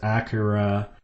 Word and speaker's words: Akira: I've heard it pronounced Akura. That just doesn't sound very good to my ear. So I'm going to call it Akira or American. We can say Akira cuz then it also sounds like Acura.